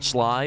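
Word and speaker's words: Schley: them perfect for candied pecans and desserts the sly pecan that's s c hle e y pecan pronounced Sly still is often called the paper shell because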